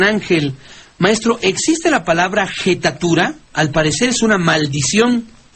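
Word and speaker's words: jettatura: Dicen que le echó una jetatura, o sea, pero se pronuncia una jetatura. Bueno, hay quien lo pronuncia con jetatura.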